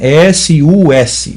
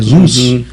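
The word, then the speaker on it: סוס: S-U-S. Se você for lá, o Samek, Vav e Samek no dicionário, você vai achar que significa cavalo, que é Zuz, ou Sus, ou Zuz, dependendo da pronúncia.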